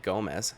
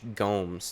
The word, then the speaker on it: Gomes: her name but no she's a gnome without the N she's Gomes that's it's a weird